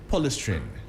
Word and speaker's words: polystyrene: However, the EPA says specialized, how do you pronounce this word? Polystyrene. Yeah. Okay. Polystyrene, yeah.